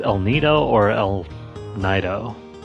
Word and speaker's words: El Nido: if this is pronounced el nido or el nido judging by its spanish origins i'm pretty sure it's pronounced el nido okay so